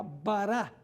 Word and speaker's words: bará: La palabra creó en la Biblia, en el Antiguo Testamento, es la palabra hebrea bará. Bará b a r a con acento en la a final.